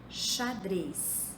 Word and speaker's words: xadrez: fosse ch observa em essa palavra xadrez é escrito com x mas se pronuncia como se fosse com ch a ameixa é escrito